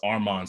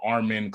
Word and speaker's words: Armon: It's the word arm, the word on put together, but people would always mispronounce it.